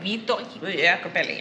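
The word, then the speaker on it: Vito Iacopelli: I think he pronounced it really fast, Italian way. Vito Jacopelli or something like that.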